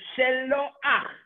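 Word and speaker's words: שלוח: A shin with a shva, she. A lamed with a cholam is lo. And then a chet at the end of a word with a patach is ach. So shelo ach.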